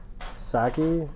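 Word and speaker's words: Psaki: Calls out uh Saki is the P silent.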